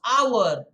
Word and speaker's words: hour: it is h o u r it becomes hour is it a period of 60 minutes that's